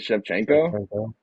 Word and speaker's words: Shevchenko: Shevchenko?